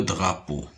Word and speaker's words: drapeau: Regardez la deuxième syllabe. On a P et EAU qui me donne le son O. Po, le drapeau.